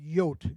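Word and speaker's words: Jood: would say Yuda and in the Netherlands it said yot g-o-o-d now not only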